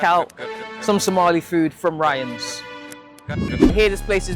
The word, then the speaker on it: Rayaan: Ryan.